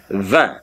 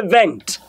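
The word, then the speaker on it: vingt: 20 is a 20. I didn't say vent, I say 20.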